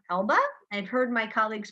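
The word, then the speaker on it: Elbe: elb it's e- lbe it's mostly pronounced Elba I've heard my colleagues pronounce it many different ways but it it's I believe supposed to be pronounced the Elba River and this is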